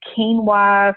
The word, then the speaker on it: quinoa: The quinoa is spelled Quinoa. Looks like quinoa, but quinoa. It's quinoa.